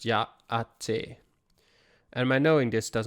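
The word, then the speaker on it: Yá'át'ééh: Yahtehe. I don't know what it means, but sure. If that is Navajo, then the greeting is pronounced Ya'ate.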